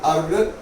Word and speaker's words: erg: Question next बेटा, इसने बोला कन्वर्ट 1 जूल डैश अर्ग ERG, इसका प्रोनाउंसिएशन होता है बेटा अर्ग।